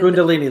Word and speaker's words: Kundalini: So yeah, so the Kundalini is Kundalini, thank you.